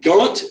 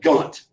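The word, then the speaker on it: Ghent: so Monroe and Adams are over here in gaunt Belgium that's how you pronounce that gaunt they're in Kant Belgium and they have been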